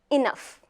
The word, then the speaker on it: enough: did that come from the truth is GH has three sounds good no sound at all and F isn't it interesting let's continue with the rest of the words eight like the GH is not there enough f very well let's see what